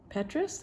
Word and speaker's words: Petrus: Then I bought this at the attic, Eliza Brown by From the Heart Needle Art by Wendy Petrus. Found out it rhymes with Tetris.